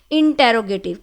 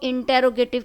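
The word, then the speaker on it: interrogative: इंटेरोगेटिव, कुछ लोग इंटेरोगेटिव कहते हैं, लेकिन इसका जो कंप्लीट और बिल्कुल सही इसकी प्रोनाउंसिएशन है वो है इंटरगेटिव, ठीक है।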